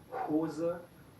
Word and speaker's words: Hose: En estos casos no se escucha, pero en la mayoría de los casos, cuando una sílaba empieza con la H, entonces se escucha, como Hose, Hund, Haus.